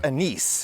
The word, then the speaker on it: anise: plant anise also pronounced a nice it's a word of french origin and anise is the french pronunciation so i was wrong